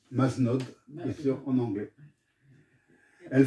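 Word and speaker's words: Mazenod: lesesso vous vous poserez à maeno qu'on prononce manod bien sû en anglais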